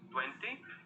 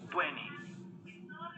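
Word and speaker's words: twenty: Las dos son correctas. Podemos decir 20 o yo suprimo esta T y decimos 20.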